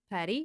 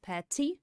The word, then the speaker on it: patty: Двойная T в американском английском превращается во flap T, patty. Там такое подобие мягкого D. Patty. Patty, patty. Patty. В британском произносится true T, patty.